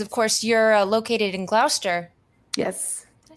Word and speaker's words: Gloucester: Moving hooch on the road because, of course, you're located in Gloucester.